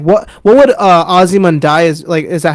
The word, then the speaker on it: Ozymandias: Like what would Ozymandias is that how you pronounce it? The Yeah. 14th Yeah. episode. Yeah, like that. Like Ozymandias.